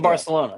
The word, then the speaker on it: Barcelona: Barcelona. He lives in Barcelona. Yeah. Yeah, and then they say it like Barcelona, like they have a lisp.